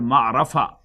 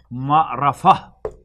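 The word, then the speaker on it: معرفة: In Arabic, the definite will be called ma'rafa. Ma'rafa. Actually, this is a ta, which is pronounced as ha because waqf is done here.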